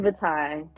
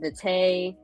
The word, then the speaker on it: Vitae: artist's name is Dorian Vitae. Dorian Vitae. See, I was saying Vitae, but he was like, it's okay.